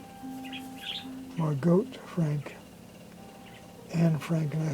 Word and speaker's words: Margot: been saying is Margot, M-A-R-G-O-T, and learned it's pronounced Margot Frank, Anne Frank, and I think Anne's actually full birth name was Annalise.